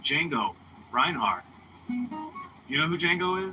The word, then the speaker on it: Django: Bro, look up Django with a D. The D is silent. Django. DJ Ango.